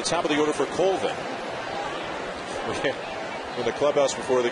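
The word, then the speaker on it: Colvin: your mom pronounce it he said culvin but my granddad says cvin and Mom wins right Mom Trump's Granddad no no disrespect granddad but mom wins so it is Tyler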